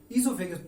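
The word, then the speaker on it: oesophagus: Food pipe में, ईसोफेगस। तो वहां क्या होता है? What happens inside the food pipe और ईसोफेगस? ईसोफेगस की स्पेलिंग आपने देखी, ओ साइलेंट है, प्रोनाउंसिएशन में स्टार्ट होता है ई से, ओ साइलेंट है।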